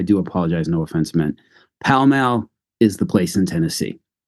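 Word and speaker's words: Pall Mall: all other Tennessee residents I've been pronouncing that Paul mall like the cigarette brand for like the last 40 something years so uh I do apologize no offense me palal is the place in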